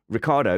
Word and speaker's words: Ricciardo: And Mike Stoner says, Ricciardo is actually pronounced Ricciardo.